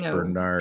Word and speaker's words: Bernard: Bernard show yeah Bernard he insisted that it'd be pronounced Bernard it's Bernard he's a